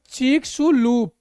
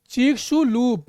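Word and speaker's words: Chicxulub: बारे में प्रभाव केटर उच्चारण चक्स लूप चक्सू लूप इसका क्या उच्चारण चक्सू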